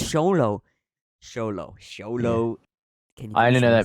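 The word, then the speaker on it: Xolo: actor who plays him I don't want to pronounce his name I don't want to try it it's sholo oh yeah it's sholo solo I only know that because Hulk's character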